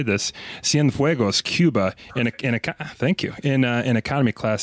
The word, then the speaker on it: Cienfuegos: I can figure out how to say this, Cienfuegos, Cuba.